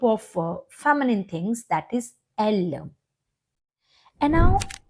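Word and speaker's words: elles: It's not else, because most of the children, they pronounce it else. Don't develop this habit, okay? So pronounce it L, just like singular one, she, okay?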